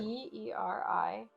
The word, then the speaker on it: Teriani: Spell it again. T-E-R-I-A-N-I.